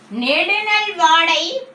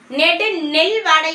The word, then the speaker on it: நெடுநல்வாடை: நெடுநல்வாடை பாலை ஒழுக்கம். நெடுநல்வாடை, நல்லா உச்சரிங்க. நெல் வாடை இல்ல, நெடு நல்வாடை, நல்ல வாடை.